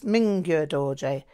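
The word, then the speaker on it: Mingyur Dorje: I'd forgotten the full name and my pronunciation is terrible. No, it can be pronounced like that too. I have an Eastern Tibetan dialect from my Lamas and they pronounce Tibetan closer to the written form.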